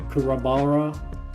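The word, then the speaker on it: Kuwabara: I like Yusuke, I like Kurabara, that's how you say his name.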